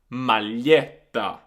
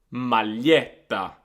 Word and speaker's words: maglietta: So we've got the words famiglia, famiglia, figlio, figlio, foglia, foglia, maglietta, maglietta.